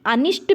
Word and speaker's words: अनिष्ट: दोनों शब्द शुद्ध है लेकिन इसमें अनिष्ट देखिए कि अनिष्ट में ट का प्रोनाउंस एशन हो रहा है जबकि गरिष्ठ गरिष्ठ होता था ठ का प्रोनाउंस एशन और घनिष्ठ आप घनिष्ठ तो एक घनिष्ठ शब्द क्या है दोनों शुद्ध है लेकिन आप अनिष्ट शब्द में ध्यान रखिएगा टा का प्रोनाउंस एशन होता है तो इसीलिए दोनों साथ